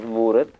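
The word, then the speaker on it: ਮੂਰਤਿ: removed that so that you should pronounce it as Murat, Barney has retained it as a sihari to show you, by the way, this word comes from the longer word Murti.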